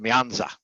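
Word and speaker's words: 面子: networks uh the second one over here is pronounced myanza and it basically means face so back to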